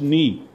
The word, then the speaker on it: knee: K is silent, yes, like we say, K is silent, knee. So, knee, body part. So, K-N-E-E, we say knee.